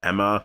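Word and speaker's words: Aemma: big death here was queen emma or ema i keep saying emma because they pronounce it like that but it's spelled like a e m a which you want to kind of say ema but i guess that's emma anyways his decision was just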